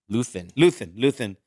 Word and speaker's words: Luthen: Luthen.